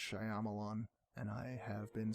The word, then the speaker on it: Shyamalan: pronounced Shyamalan, and I have been saying it wrong And what my a entire long life.